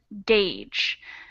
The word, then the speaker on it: gauge: how about this one gage it's a funny word because it's spelled very differently from how it's pronounced the word gauge so they're reading this